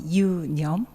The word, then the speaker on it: Yoonyum: So Yoonyum, the pronunciation is a little difficult, right? So you can follow me. Yoonyum.